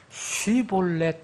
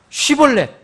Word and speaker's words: shibboleth: 제가 이렇게 해봤더니 그 영어를 발음하는 그 원어민은 쉬볼렛 이렇게 발음합니다. 쉬볼렛. 그러면 여기에 시볼렛은 어떻게 발음하냐? 시볼렛. 여러분 차이 분명하겠어요? 분별하겠어요? 영어로 얘기하면 H가 하나 더 붙었어요. SH고 하나는 그냥 H가 없는 S예요.